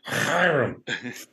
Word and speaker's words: Hiram: I think maybe it's more like Hiram. I can't do the guttural thing.